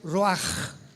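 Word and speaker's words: ruach: apunta la palabra espíritu del hebreo ru con ch se pronuncia roaj como con j.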